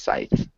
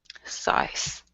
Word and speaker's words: scythe: okay um and so Scythe apparently does have a th sound that you do pronounce so it would be his Scythe Scythe yeah good okay and